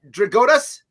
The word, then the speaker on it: Drigotas: up so i don't want to say his name wrong connor's easy bart connor did i get it right dragotas nailed it first try it's incredible dakota's never